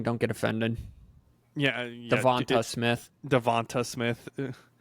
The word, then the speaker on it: DeVonta Smith: Devonta Smith. Devon Smith, I think is what I called him a few times.